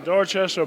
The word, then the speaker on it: Dorchester: you get you're in Boston now is it door chest how do you say it yeah Dorchester Boston and I came over here and um